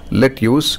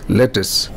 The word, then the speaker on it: lettuce: suit it is sweet it's not let use it is lettuce it's not Wednesday it